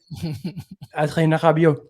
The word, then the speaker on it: Adrien Rabiot: Adrien Rabiot. You got to get the H sounding R. It's it's a very French thing.